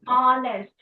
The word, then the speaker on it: honest: Because because uh H here is silent. So and the sound we hear is honest.